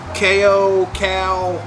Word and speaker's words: CAO: So a lot of people pronounce it, I've heard chow, I've heard CAO, but CAO.